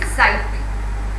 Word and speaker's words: sight: It is said ability to see something is sight, right? Now here the GH is silent.